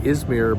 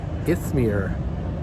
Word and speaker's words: Izmir: I am in, I pronounce it, most of us maybe in Canada, US pronounce it Izmir, but it's Izmir, I-Z-M-I-R, I guess is spelling Izmir.